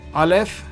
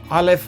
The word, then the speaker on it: א: These two letters are silent as I said, alf and unless there's a vowel, they are silent. Now, this rule is according to the modern Israeli pronunciation, which most of us are following now, including the Bible grammar books. However, however, it may be possible that in the past they were pronounced differently, alf was supposedly a glottle stop.